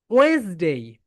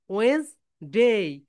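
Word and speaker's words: Wednesday: এটা that is wrong pronunciation. বলো Weil's, Weil's, Weil's, Weil's day, ওয়েন্সডে।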